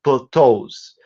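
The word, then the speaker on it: plateaux: So even if it's spelled in the French way with E-A-U-X at the end, you still pronounce it as plateaus.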